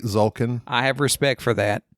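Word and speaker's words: Tzolk'in: I don't like how it's spelled with a T. It's misleading. It's silent. Zulkin. You would think there's no T. It's a low T. Silent T.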